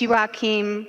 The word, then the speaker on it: Joachim: It's Joachim, really long vowels. Say it like a Minnesotan and you'll be fine.